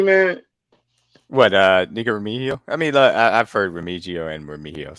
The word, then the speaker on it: Remigio: Nico Remigio. Remigio. Ooh, Remigio.